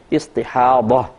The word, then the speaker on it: استحاضہ: ہیں ضاد اور ہا، استحاضہ، اور اردو میں استحاضہ کہہ دیتے ہیں زے کے ساتھ، تو یعنی ہے ضاد ہی لیکن اردو میں ہم زے کے ساتھ تلفظ کرتے ہیں استحاضہ۔ استحاضہ کا مطلب